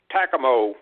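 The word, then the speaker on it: TACAMO: I was just going to say that's pronounced Tacoma plane.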